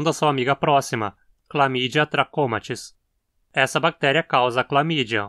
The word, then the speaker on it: trachomatis: onde vem o epíteto trachomatis, que significa do tracoma. Sempre que você encontrar palavras terminando em matis, dessa forma, elas serão proparoxítonas.